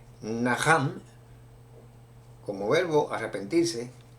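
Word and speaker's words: נחם: Vamos a comenzar definiendo que viene de la palabra que como verbo se pronuncia Naham, como verbo arrepentirse, Naham, y como sustantivo es Nehum.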